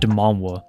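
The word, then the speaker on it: 만화: So anytime you see a Korean manga, they call it manhwa. The reason why is because in Korea, the pronunciation for manga is more as manhwa.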